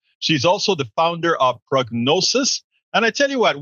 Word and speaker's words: Prognosus: company that you have called Prognosus, but it's spelled not I-S, but U-S.